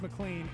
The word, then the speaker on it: McLean: reluctant convert starring max McLean as CS Lewis on the claim is it MacLaine of a clean clean like John McClane he was being very